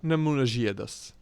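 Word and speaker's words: Nemuno Žiedas: So I believe from what I've checked in the what I checked in Google Translate, it should be pronounced like Nemuno Ziedas.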